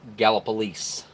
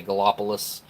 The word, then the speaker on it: Gallipolis: ohio or gallop police some people say it gala police and then you hear have people that don't know how to say it that just read it and they say Galapagos or go up Gallipolis golf but Galapagos Galapagos or Gallipolis but it's it's gapless or gallop police some people say it's